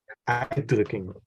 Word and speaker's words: uitdrukking: The emphasis goes op uitdrukking.